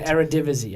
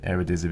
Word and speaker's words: Eredivisie: Is it the Eredivisie, I believe it's pronounced? Yes, something like that. Yeah. I haven't quite got my tongue around that one yet, but I think it is the Eredivisie, isn't it, or whatever it is.